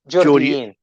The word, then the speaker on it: جورديين: Saudiyin and Jordiyin. Saudiyin and Jordiyin. Yeah, but يعني بدون E with a yay. سعوديين وجورديين. Saudiyin and Jordiyin.